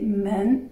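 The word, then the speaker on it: 们: Donc, ce sont un côté qui signifie le sens, l'autre côté qui donne le son, qui donne la prononciation, d'accord? Un autre exemple, c'est men, qui signifie le pluriel, men, comme dans woman, ni men.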